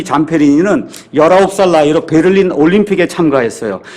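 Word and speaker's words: Zamperini: 잠페리니는 Z-C-A-M-P-E-R-I-N-I 이렇게 되어 있으니까 여러분이 유튜브나 아니면 위키피디아 백과사전 가서 보시면 이 미국 사람들은 잠페리니 이렇게 발음하는데 그냥 잠페린이라고 제가 이야기하겠습니다.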